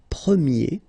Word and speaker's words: premier: And then the sound will change quite much, because if you think about the masculine form, you pronounce it premier, okay?